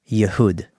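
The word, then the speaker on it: يهود: Now, how do you say Jew in Arabic? No idea. Yehud.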